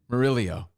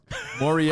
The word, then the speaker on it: Moriello: I mean, he knows, but he still says, I can't even say what he says. Murillo. And you still say it wrong. Moriello.